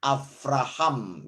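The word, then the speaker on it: אברהם: Jadi misalnya tulisan Abraham itu dibacanya Avraham ya, menggunakan vet bukan bet.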